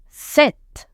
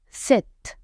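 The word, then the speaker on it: sept: Set. Letter P is silent. Set.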